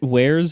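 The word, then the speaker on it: warez: no it shouldn't be wait isn't isn't Wares how you're how you're supposed to pronounce w a r e z Oh yes that is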